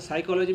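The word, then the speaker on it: psychology: जैसे साइकोलॉजी में P silent है।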